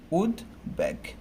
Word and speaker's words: উদ্বেগ: আমরা সেভাবে মনে করে এটাকে আমরা উদ্বেগ বলি, কিন্তু এখানে উদ্বেগ করা যাবে না, কারণ এখানে উদ উপসর্গ যুগে গঠিত হয়েছে। উদ উপসর্গ যুগে, যে উদ প্রথমে উদ থাকে, এই কারণে এখানে যে বটা আছে সেই বটাকে উচ্চারণ করতে হবে। তো এক্ষেত্রে আমার এই শব্দটার জন্য উচ্চারণটা কেমন হবে, উদ, উদ উপসর্গ আছে তাই উদ থেমে যাচ্ছে, আমি এখানে হসন্ত দিব, এরপর হচ্ছে ব আছে, সে বয়ের উচ্চারণটা করতে হবে, উদ ব্যাগ।